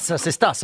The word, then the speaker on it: Sestas: Sestas, on prononce le S.